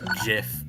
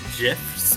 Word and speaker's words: GIF: You you pronounce it with a J instead of a G. A G. What? And this time RFI. I don't know. GIF.